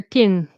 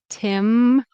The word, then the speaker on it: Tim Hortons: mispronounced by Spanish speakers I'll hear tin tin tin What if they tin or something like that? Tin tin. I don't know. But anyways, Tim, it should be timort or Tim Hortons.